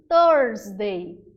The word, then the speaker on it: Thursday: Porque a quinta-feira a gente precisa dar uma enroladinha na língua. Thursday.